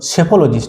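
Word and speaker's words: psephologist: study সেটাকে বলব আমরা এটা কি উচ্চারণটা সেফোলজিস্ট যেমন সাইকোলজি উচ্চারণ সাইকোলজি কি মনোবিজ্ঞান সাইকোলজিস্ট ঠিক সেটা হচছে সেফোলজিস্ট বঝা গেল কার্ডিওলজিস্ট না গাইনোকলজিস্ট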